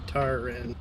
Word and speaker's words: Tatarin: Tatarin. Did I say it right that time? Yeah, just read it out as you see it. Tat, tar, in. Tatarin.